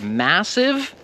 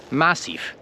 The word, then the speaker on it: massive: Are you saying it massive or are you saying it massif? Do you hear the difference? One is with a V and one is with a F.